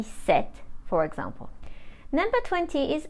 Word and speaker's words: sept: we pronounce it Sis the number seven is spelled s e p t but we don't pronounce the p and we say set number eight is spelled